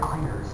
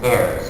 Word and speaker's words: Ayres: get to see greg irons and that's actually theirs no it's iris look i'm his brother it's heirs that's the way we pronounce our name another thing that people